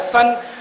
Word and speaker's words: son: सन, SON। Pronunciation क्या है? सन। अब डिफरेंशिएट कैसे करेंगे? SON सोन होना चाहिए, SUN अगर सुन होना चाहिए।